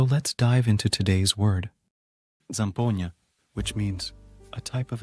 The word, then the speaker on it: Zampogna: or intriguing so let's dive into today's word zampona which means a type of Italian bagpipe let's